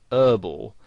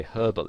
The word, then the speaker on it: herbal: Now, in American English, the word herbal has the H silent, so they pronounce it herbal. Now, you might find somebody actually spells it that way, herbal essences, because that's how they would pronounce it, whereas in British English you would pronounce the H, and you would say herbal essences.